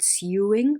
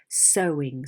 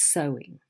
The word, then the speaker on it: sewing: of the word sewing it's not suing but sowing so so the spelling